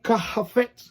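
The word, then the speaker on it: חפץ: Eso se pronuncia, voy a tratar de decirlo de alguna manera para que usted me entienda. Es como kafet.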